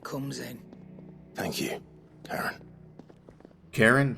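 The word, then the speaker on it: Charon: Karen? That's how you pronounce it? I thought it was Sharon.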